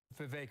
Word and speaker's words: Vivek: okay there we go Vivek Rama Swami um we just want to play oh yeah I'm sorry his name rhymes with cake I should have known the vague chromosome this way with